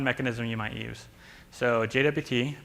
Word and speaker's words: JWT: you might use so JWT pronounced jot uh Json web tokens